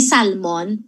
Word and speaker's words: salmon: niyo ba ang Salmon silent L pala yan hindi Salmon Salmon ganon Parang labas pa sa ilong Salmon and then whole